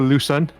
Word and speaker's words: Lushen: Well, it's a lot easier to pronounce it Lushen. Lushen, okay.